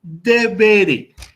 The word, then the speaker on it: deberé: Entonces, esta palabra no se va a mencionar como debere, ni como debere, sino como debere, con acento en la penúltima sílaba.